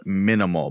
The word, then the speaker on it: MNML: and it's a bag from a company called minimal but it's spelled m as in mike n as in